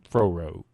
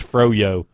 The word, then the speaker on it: Froyo: Froro. How do you say it? Froro. Yo. It's froyo. Froyo.